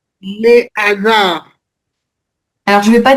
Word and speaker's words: hasard: Par contre, hasard, c'est un H aspiré. Aspiré, ok. Liaison interdite.